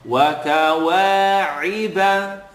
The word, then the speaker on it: وَكَوَاعِبَ: I want you to allow the ayn to have an e sound. Iba. Wa, ka, wa, iba, at.